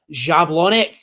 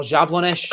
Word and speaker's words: Jablonec: and it's liftoff in JABLONEC, or Jablonec, I think that's how you say it. Whatever it is. I thought it was pronounced Jablonec.